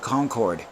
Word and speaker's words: Concord: It's along the same lines as Concord. You know, it's, to a lot of people, it looks like Concorde. No, Concorde is a French passenger plane that does over Mach 1. So, faster than the speed of sound. That's Concorde. This is Concord. That's the pronunciation.